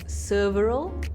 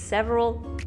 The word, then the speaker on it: several: are the word s-e-v-e-r often times has been pronounced as serveral serveral several so there are many ways people mispronounce this word and i hardly hear people say it's several right off the bat so kudos to her